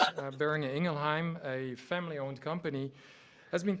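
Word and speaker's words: Boehringer Ingelheim: John Michelle Boris from Buring Ingleheim.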